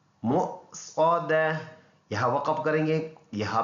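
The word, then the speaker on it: مُؤْصَدَة: तो इसको हमने ऐसे पढ़ना है मुक़्सदा, यहाँ वक़फ़ करेंगे, यहाँ पे कन्वर्ट और दोनों पेश साइलेंट।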